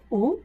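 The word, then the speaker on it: ㅜ: আমরা এই উর উচ্চারণ করার সময় সামনের দুই দাঁত একসাথে করে উচ্চারণ করব।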